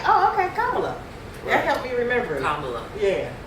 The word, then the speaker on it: Kamala: of course for the people for the Sisters Kamala for the sister Kamala Kamala Kamala Kamala yeah we all we allab